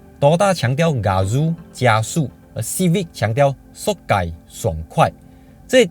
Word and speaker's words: 爽快: The Chinese character for Sokai is 爽快 Which is the meaning of Refreshing (Don't pronounce K as H) Sokai is called in